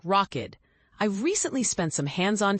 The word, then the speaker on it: Rokid: One notable contender in the US market is Rokid, a China based tech company pronounced like Rockid.